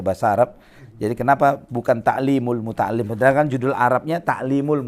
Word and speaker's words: تعليم المتعلم: Jadi kenapa bukan ta'limul muta'allim? Padahal kan judul Arabnya ta'limul muta'allim. Kenapa di sini dibacanya ta'limal muta'allim? Karena ini adalah kata ganti objeknya.